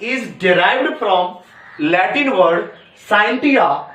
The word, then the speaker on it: scientia: है जिसका नाम है SCIENTIA, साइंटिया, या आप कह सकते हैं साइंसिया, ठीक, और सा जैसा भी प्रोनाउंसिएट कर सकते हैं, साइंटिया या साइंसिया।